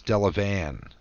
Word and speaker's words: Delavan: We don't pronounce the town of Delavan as Delavan. It's Delavan.